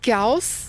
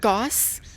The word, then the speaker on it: Gauss: But it is it is pronounced Gaus. A lot of people pronounce it Gauss.